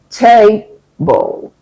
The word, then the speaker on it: table: To help you understand stress, think about the word table. Table. In that word, there's a stress on the first syllable.